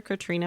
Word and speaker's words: Catriona: thank you and thanks again to our author Katrina and if I feel like I should